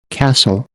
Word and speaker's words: castle: palavras L len fen ofen ofen Christmas Christmas Castle Castle whistle whistle um outro som que você